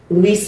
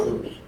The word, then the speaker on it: Louis: It's Deirdre here, and today we are talking about dating with a special guest, Luis. Did I pronounce that correctly? Yeah, close enough. Louis. Oh, Louis.